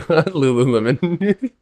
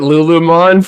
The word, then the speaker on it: Lululemon: Lululemon. I've been calling it Lulumon for like like a Digimon, bro.